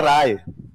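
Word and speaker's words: Ray: यह वास्तव में होता है राय। क्या होता है? स्पेलिंग क्या हो गई? उन्होंने बोलना शुरू कर दिया रे। क्या बोलना शुरू कर दिया या कई जगह तो इसको बना गए तो सत्यजीत रोए सत्यजीत रे जबकि वास्तव में होना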